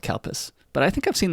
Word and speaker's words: Calpis: we are drinking today this is called calpes which sounds really weird in english let's get over that for a second yes it is spelled c-a-l-p-i-s no matter how it sounds it is spelled c-a-l-p-i-s and in in fact when it comes to america i think they changed the name to calpeco but in japanese it's called kalpas but i think i've